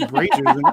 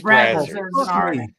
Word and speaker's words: Brazzers: I thought it was Brazers. I've been saying it wrong. It's Brazzers. Yep.